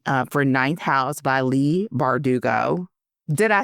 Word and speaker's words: Leigh Bardugo: takes for the uh for ninth house by Lee bardugo did I say it right you nailed it